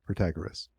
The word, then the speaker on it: Protagoras: It's Protagoras. Okay. And I'm pronouncing it Protagoras.